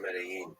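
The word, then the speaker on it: Medellín: You mentioned Medellin. Dog. How do you pronounce it? Medellin or Medellin? Both are fine.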